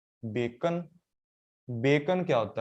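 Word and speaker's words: Bacon: तो बेकॉन ऐसे नहीं पढ़ता, बेकॉन ऐसे पढ़ता है। एक तो ये नाम था फ्रेंसिस, बेकॉन होता है, बेकॉन, बेकैन नहीं।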